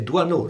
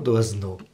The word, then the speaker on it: Doisneau: Robert Doiseneau, che poi ho scoperto che in Francia la pronuncia corretta è Doiseneau, non Doiseneau.